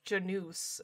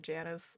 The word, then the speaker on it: Janus: ever masks tt rpg so it's pronounced genus oh okay i'm still gonna wind up calling it janus i feel like janice